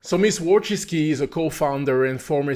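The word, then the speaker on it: Wojcicki: Winski, is that how you pronounce it? Yes. Wiski. Wiski.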